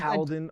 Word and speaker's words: Caledon: You grew up in Caledon, Ontario. Is that the correct pronunciation? It is very good. Caledon, Ontario.